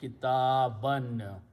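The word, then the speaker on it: كِتَابًا: fathas or zabar, and we write an extra alif which is not pronounced. So the word becomes kitaban.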